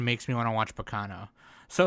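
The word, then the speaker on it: Baccano: me want to watch Bacano. So it's like it's Bacano-san, not Bacano. For fuck's sake, you gotta pronounce it right. It's the first syllable that is emphasized.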